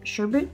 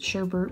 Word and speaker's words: sherbet: design how that shirt sherbet it doesn't have iron it but it feels weird to not pronounce it sherbert but I've heard that was wrong I both know he